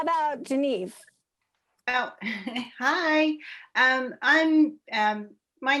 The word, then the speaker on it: Geneve: How about Geneve? Oh, hi. My name is unpronounceable, so that's cool. Am I pronouncing it wrong? Everybody does. It's Geneve, which makes no sense phonetically. Every E is different, so that's if you get it wrong, that's cool.